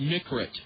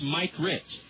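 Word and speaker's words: Mikrut: You would think it's pronounced Mikrit, but it's Mike Rit.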